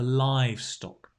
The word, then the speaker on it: livestock: all the animals basically the livestock right accent on the eye the livestock great very